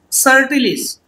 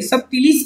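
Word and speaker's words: subtilis: सो इन bacteria, यहां पर एक एग्जांपल लिया है बैक्टीरिया का, कैसे प्रोनाउंस करेंगे, इट्स बेसिलस सर्टिलिस, बी साइलेंट है, सब टिलिस नहीं बोलना है, सर्टिलिस, बेसिलस सर्टिलिस, द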